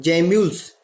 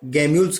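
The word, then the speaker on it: gemmules: लेकिन आपको एक बहुत अच्छी चीज बता रहा हूं, जैम्यूल्स, एनसीईआरटी बुक में कुछ लोग जैम्यूल्स कहते हैं, कुछ लोग गैम्यूल्स कहते हैं, जैसे आप प्रोनाउंसिएट करना चाहें कर सकते हैं।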